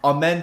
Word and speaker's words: Amen: same track class but a man is nasty they spell it like a m e m like amen yes bro he's so